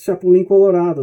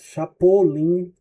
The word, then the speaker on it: Chapulín Colorado: That's Chapulín Colorado. That's how we call it here. Chapulín Colorado. El Chapulín Colorado. I'm not sure how they say it in Mexico, but here in Brazil it's Chapolin with an O.